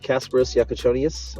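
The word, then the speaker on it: Kasparas Jakučionis: We're back over here on the Top Shot side on this number 65 of 129 that I just pulled of Kasparos Yakachonius.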